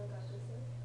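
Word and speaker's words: 学生: Yeah, the u in the ku does tend to get shortened.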